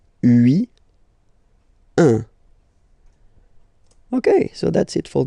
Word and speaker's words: un: All right, so when you combine this U and N, you get the nasal sound un.